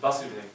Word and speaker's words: Vasudeva: Krishna's father is Vasudeva, with short A.